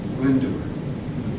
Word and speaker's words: Glyndŵr: Of Welsh origin, pronounced Glyndŵr. The Y and the W are the vowels.